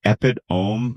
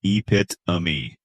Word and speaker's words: epitome: It looks like epitome, but no, it's epitome.